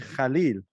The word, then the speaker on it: Kallil: But apparently the right way to pronounce it, and I got points for this, is Kallil.